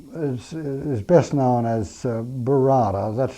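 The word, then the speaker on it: Burarra: Well, the l the language um um is is best known as Barada. that's spelled B U R A R A.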